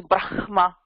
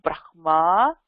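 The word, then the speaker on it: ब्रह्म: It is not brahma, it is brahma. Brahma. So again, ha kapra ma vandhadhuna Brahma. Adutha indha ra, indha ra vandhu ha kapra vandhadhuna first the ra is pronounced and not the ha.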